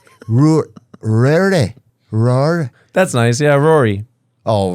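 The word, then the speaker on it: Ruaidhrí: Rory. That's nice. Yeah, Rory. Oh, Rory. Rory. That would be like Rory. DH would all like it's like silent.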